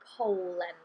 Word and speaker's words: poen: or um another example poen poen yeah so it's more like the sound in Bowl maybe Po in okay so